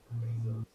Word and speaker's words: Bezos: Bezos. Yeah, that's how I pronounce it, Bezos.